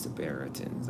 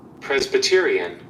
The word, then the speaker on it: Presbyterian: I just don't know how to pronounce it. prearitans. I think that's how you say presitans Presbyterian Presbyterian Presbyterian Presbyterian.